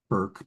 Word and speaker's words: Bourke: Hannah Burke, but it's spelled Bourke.